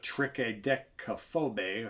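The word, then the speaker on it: Triskaidekaphobie: like i said uh trick a dec phobe however they say that and i'll spell it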